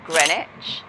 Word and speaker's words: Greenwich: Greenwich, which is where the O2 and the cable cars are. It's spelled Greenwich, but it's said Greenwich.